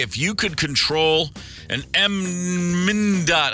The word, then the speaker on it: MnDOT: If you could control an MnDOT, how do you say that? MnDOT? MnDOT.